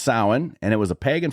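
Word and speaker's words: Samhain: started as a pagan festival called sin which is not how you think it is spelled sin is spelled s a m ha a i n or something that looks like that in Celtic runes so but it's pronounced sin and it was a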